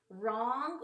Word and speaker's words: wrong: Or the W can be silent, like in the word wrong, or wrist, or Mr.